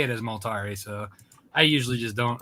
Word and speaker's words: Multari: Rob Multari. I'm saying it wrong, ain't I? It's Multari.